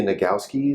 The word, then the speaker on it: Nagoski: We're going to discuss a book that you'd mentioned by the author Emily Nagoski. Is that how you? Yeah, you actually pronounced it well.